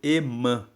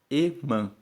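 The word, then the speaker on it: Hemã: Emã se escreve com H-E-M-A-N. Emã. E tem algumas versões da Bíblia que escrevem o nome dele como H-E-M-A com tio. Emã.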